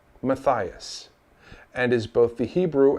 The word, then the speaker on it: Matthias: who do not realize that there is no mattius name and pronunciation the name whether it's spelled in any of these variations is still pronounced Matthias and is both the Hebrew and Greek form